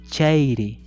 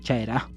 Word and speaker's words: chairi: Aquí falta la palabra chairi. Pitach sería, no sería pitach, sería pitach chairi, chairi. No es chaira, ojo, no es chaira, es chairi.